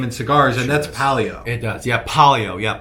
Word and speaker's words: Palio: And he was like, bro, that's a box of, we call them Paleos. Okay. We say it wrong. He's like, bro, those are a box of Palio cutters.